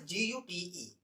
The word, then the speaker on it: Gute: The word is Gute.